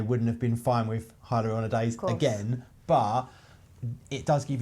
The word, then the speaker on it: hyaluronidase: People call it hyaluronidase, but it's spelled hyaluronidase.